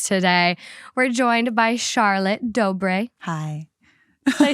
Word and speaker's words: Dobre: Yeah, and I was like, okay, how do I pronounce her last name? Dobre.